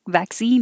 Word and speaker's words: vaccine: So the first part is still va. We don't change it to v. Sometimes we change unstressed syllables to and sometimes we don't. And this one definitely stays va.